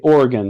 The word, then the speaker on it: Oregon: was from oregon and they say organ like an organ donor because it is good